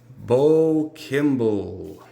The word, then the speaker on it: Kimball: No, it's Bo Kimball.